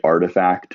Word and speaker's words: RTFKT: like nike just bought the company artifact which is spelled rtfkt and makes digital sneakers that